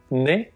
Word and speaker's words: né: You then have to add a very small word, né, if you're a boy or a man, or né if you're a girl or a woman. The pronunciation is the same, but the spelling is different.